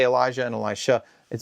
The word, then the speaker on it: Elisha: crosses the river Jordan his successor is Elisha sometimes described as Elisha right or Alicia to clearly distinguish him from Elisha but even that's a little problematic because Alicia sounds like a feminine name rather than the masculine name so I'm just going to say Elisha and I'll try to put the emphasis on the sh so that you're clear